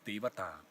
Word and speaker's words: Devata: Trees are the abode of some deity, and the deity in Buddhist word, which is pronounced in Pali, is Devata.